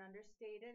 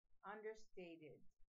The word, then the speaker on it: understated: La ED al final, ahí en understated, en la 27, se va a pronunciar ID. Porque understate termina con sonido de T, entonces cuando pronunciamos el ED, se va a pronunciar ID. Understated.